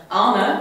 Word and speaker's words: Arne: say it right this time because I've been pronouncing it wrong all day Anna and Carlos was that it earlier we've been